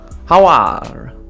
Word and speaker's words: Aouar: La pronuncia. Awar.